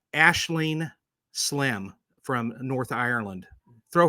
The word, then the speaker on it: Aisling: But I have to make mention of Aisling. It looks like Aisling, but she pronounced it Aisling, and it's Aisling Slim, and she lives up in Northern Ireland.